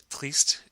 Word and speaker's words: triste: Because triste ends with an E, the pronunciation is going to be the same between the masculine and the feminine. And since the pronunciation between the masculine and the feminine and the singular and the plural are all the same, there's only one way you pronounce triste unless you have a liaison.